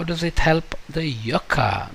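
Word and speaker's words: yucca: it help the yoka so last time I said I'll figure out how to pronounce this word y u CCA well it turns out that it is called Yuka in Spanish and maybe some Hawaiians call it Yuka but most of the Americans and the Europeans seem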